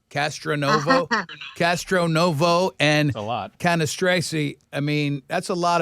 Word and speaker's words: Cannistraci: I would have said Cannistraci, but it would have had to have. Well, that's the correct way.